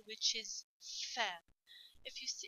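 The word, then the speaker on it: ف: easy letter which is fair if you see if you pronounce fair you will notice that you bite your down at lips okay your bottom lips so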